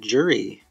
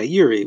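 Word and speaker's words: Juri: so let's talk about jury yuri yeah yeah yuri we'll go with that the j is silent so yuri master of the review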